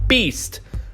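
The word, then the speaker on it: B2ST: Now, if you know your Korean numbers, the 2 is actually pronounced like E, so it's Beast, which is also their other stylization of their name.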